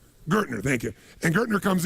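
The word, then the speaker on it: Gerstner: And they brought in, I don't know how to pronounce his name, it was Gestetner, the gentleman who came in, who was like the major turnaround guy. What's his name? Gertner, thank you.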